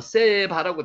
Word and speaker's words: 세바: 자, 요거 스바 지난번에 말씀드렸죠? 그냥 한글로는요 스바와 밑에 있는 스바가 똑같이 돼 있습니다만는 위에 있는 스바는 세바라고 돼 있습니다. 요게 세란 발음이 나죠.